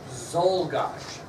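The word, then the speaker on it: Czolgosz: Zolgash. Leon F. Zolgash. Doesn't sound like it's spelled. Starts with a C.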